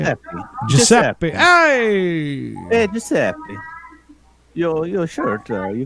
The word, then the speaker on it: Giuseppe: Giuseppe. Hey, Giuseppe. Your shirt, you got a sweater. Hey now, our guy, how are you, buddy? Is that you sitting there, our guy? Are you Giuseppe?